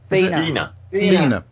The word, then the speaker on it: Vina: Vina. Vina rhymes with Wiener.